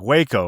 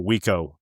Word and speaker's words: Waco: I was thinking Waco, Texas. because I think I've been pronouncing I think I've only read it and I've been pronouncing it Wo in my in my head all these years but I but I'm familiar with that.